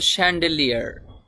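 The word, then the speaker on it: chandelier: শ্যান্ডেলিয়ার, শ্যান্ডেলিয়ার, এই শব্দটির উচ্চারণ হবে শ্যান্ডেলিয়ার।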